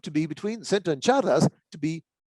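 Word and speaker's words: Csárdás: So Chicos is back in place, but now Chardas is between cycle and Nyandu, because in Hungarian, CS, which is pronounced just like CH in Spanish, counts as a separate letter.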